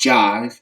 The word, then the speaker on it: Jhyve: and about her by jive and that is spelled j h y v e um it's pronounced jive as in the record